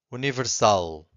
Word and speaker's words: universal: If you have a word that ends with an L. If the word ends with an L, you have to stress the final syllable.